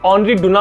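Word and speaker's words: Henri Dunant: नहीं कर रहा हूं, क्योंकि हेनरी को वो लोग ऑनरी कह देते हैं और जो डुनांट है उसके लास्ट में टी साइलेंट है, सो ऑनरी डुना हो जाता है।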